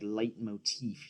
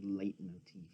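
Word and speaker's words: leitmotif: that song to be my light Motif you know my late Motif I think it's lead motif I mean sideways he's like the big music guy on YouTube he pronounces it light Motif so I'm he's wrong I don't know man I'm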